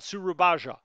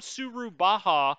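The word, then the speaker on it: Surabaya: never been there and i don't know exactly how to pronounce it but i listened to a historical video like real life historical video uh the other day and they were they kept saying surabaja and so i i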